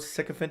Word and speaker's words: sycophant: Jay, thanks for introducing the word sycophant to my vocabulary.